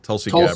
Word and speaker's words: Tulsi Gabbard: Tulsi Tulsi Gabbard.